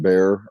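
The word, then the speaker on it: Bär: I think it's pronounced Bear.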